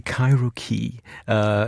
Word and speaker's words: Cairokee: How would you pronounce it? Well, I would say Cairokee.